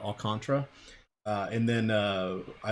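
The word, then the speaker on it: Alcantara: matchup against all can't I say his name wrong it's not all Cantera all contra and then I like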